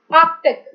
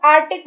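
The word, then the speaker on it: Arctic: आर्कटिक, इसको लोग आर्टिक बोल देते हैं, सी खा जाते हैं, तो ध्यान रखने में आर्कटिक।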